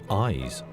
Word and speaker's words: YZ: diega otherwise known by the initials yz pronounced eyes and that's a